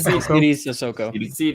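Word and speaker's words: Sidy Cissoko: How do you pronounce it? Saidi Sissoko? Saidi Sissoko.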